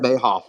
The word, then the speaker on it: Mehoff: It's pronounced Mayhoff. It's Mayhoff.